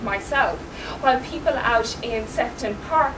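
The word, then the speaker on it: Sefton Park: while people out in sefon park for example or shefton Park as I thought it was once initially pronounced these tend to be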